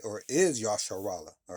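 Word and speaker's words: ישראל: Uh Israel in the Hebrew is pronounced Yashar Allah. All right. Or is Yashar Allah all right?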